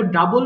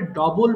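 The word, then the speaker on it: double: এরপর দেখো ডাবল মানে দ্বিগুণ করা, এটা আমরা অনেকে ভুল করে ডবল বলে ফেলি, কিন্তু ডবল কিন্তু রং প্রোনাউন্সিয়েশন, তাই না? ডবল না, এটা হবে ডাবল।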